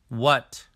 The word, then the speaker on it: what: When we have WH in the beginning of the word, the H becomes silent. What?